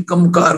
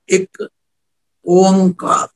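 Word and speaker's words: ੴ: है, मूल है, पर इसका उच्चारण भी एक नहीं, कोई कमकार करी जाता है, कोई एक मकार करी जाता नहीं, इसका उच्चारण है एक ओंकार, जिसका मतलब है परमात्मा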